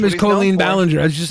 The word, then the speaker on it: Colleen Ballinger: filmed I hate how you say her name Colleen Ballinger that's her name it's not Coley yeah it is it's her name Colleen colorectal yeah it's literally Colleen Ballinger that's her name that's how it's pronounced okay